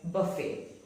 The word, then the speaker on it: buffet: Now, words taken from French words which end with et, the T is not pronounced. For example, ballet. It is not ballet, but ballet. Buffet. It is not buffet, but it is pronounced as buffet.